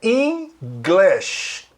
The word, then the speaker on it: English: English, olha a pronúncia, é English. A pronúncia do é I e a pronúncia do I é E. Não é English, igual o brasileiro fala, é inglês. Lembra do inglês? É English. Só muda a sílaba tônica. Passa para o in.